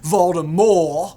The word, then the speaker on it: Voldemort: common, and chose a far more menacing moniker, Voldemort. I guess it's technically supposed to be pronounced Voldemort, but whatevs.